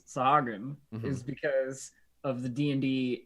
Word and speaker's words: Sahuagin: That's how I've always pronounced them. I'm sure that it's Sahagin, but the Sahooligans.